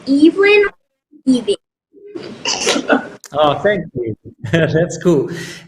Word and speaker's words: Evelyn: the way uh yes um my name is pronounced Evelyn oh thank you that's cool and tell me